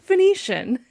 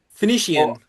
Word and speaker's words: Phoenician: You're just sort of making those syllables a little longer. Yes. Okay. I see what you're saying. Phoian as opposed to just Phoenician. Phoenician.